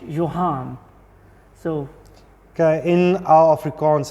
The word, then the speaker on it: Johan: Okay, interestingly, when I read your name, it was starting, it sounded to me John, and everybody was pronouncing it Johan.